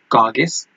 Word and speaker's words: Colchis: जैसन जब पहुंच जाता है उस जगह पे जिसका नाम जो है वो है कागिस, इस COLCHIS, इसकी जो प्रोनाउंसिएशन बनती है वो है कागिस।